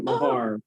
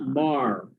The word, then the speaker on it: Meagher: It's an unusual name. It's Meagher. We pronounce it Meagher. Meagher. Okay, Meagher. But if I was in Ireland, I would pronounce it Mar, like Marr.